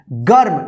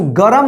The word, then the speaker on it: गर्म: गर्म, इसको गरम नहीं पढ़ेंगे, क्या पढ़ेंगे गर्म, गर्म।